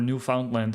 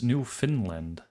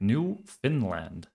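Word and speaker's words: Newfoundland: Marco, just a note on proper pronunciation for New Foundland. It's New Finland. All right. New Finland.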